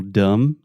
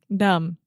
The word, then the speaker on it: dumb: in English for example dumb dumb you don't say dumb no you are a dum dum yeah so there's a B in the word dumb but we do not pronounce it many times in English